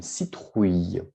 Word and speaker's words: citrouille: l'eau ni une citrouille on ne prononce pas le elle d'accord on ne prononce aller